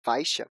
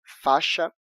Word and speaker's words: faixa: Mesmo que na norma padrão da Língua Portuguesa nós devamos escrever "faixa" e "baixo" com "I", a gente costuma pronunciar apenas "faxa" e "baxo".